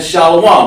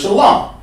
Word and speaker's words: shalom: way they do it, but the fake camps go around saying shalom. That ain't right. The word is shalom.